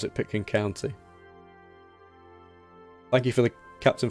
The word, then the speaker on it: Pitkin County: Pitkin County. Yes, that's right. Yeah, that's the way to pronounce it. Pitkin County.